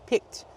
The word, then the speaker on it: picked: Pick in the past. Picked. Use the t sound.